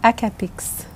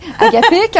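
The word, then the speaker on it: hakapik: Et puis, en avril 2021, vous avez publié le troisième tome, Le murmure des Akapix. Oui. Je l'ai bien prononcé, Akapix? Presque. Akapik, on n'a pas besoin de prononcer le S.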